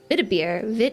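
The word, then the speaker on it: Weißbier: But I really do like lighter beers, like, I guess you'd actually pronounce it Vidbeer, Vidbeer.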